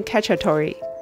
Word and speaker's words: Cacciatore: میں بات کریں گے Chicken Cacciatore کا تلفظ چکن cah-cha-toe-ray Cacciaatore کا اطالوی زبان